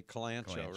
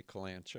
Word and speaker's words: kalanchoe: Carla says she finally knows how to pronounce kalanchoe. Because most people say calancho, right? That's what it looks like.